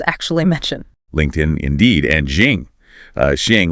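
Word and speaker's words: XING: LinkedIn indeed and Jing. Uh Xiang, which they noted might be pronounced more like Zing.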